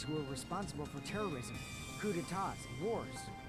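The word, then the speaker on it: coup d'état: I remember hearing that they're dangerous guys who are responsible for terrorism, coup d'etats, and wars. It's pronounced coup d'etats.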